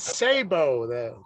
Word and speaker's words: Sabo: It's Sabo.